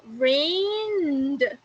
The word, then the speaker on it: rained: So it's going to be rained. You don't pronounce the E, it's only the D.